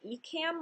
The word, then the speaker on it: Ecamm: Number one, I would say use the tool Ecamm Live. It's spelled E-C-A-M-M Live.